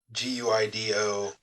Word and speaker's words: Guido: assuming it is because it's GUI d o yeah I assume I assume it's pronounced Guido Kia you know uh but